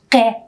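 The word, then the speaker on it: ق: or uvular plosive sound it is pronounced like ke but the time does not touch the soft palate as it does in pronouncing the k sound but the tongue touches the uvula can you remember how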